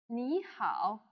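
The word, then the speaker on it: 你好: there are four tones the two words used here happen to be in the third tone which means they have a falling rising tone so you would say me and how me how can you say that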